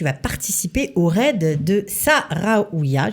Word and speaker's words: Sahraouiya: participer au raid de Sahraouia. J'espère que je l'ai bien prononcé. Sahraouia. C'est mieux comme ça.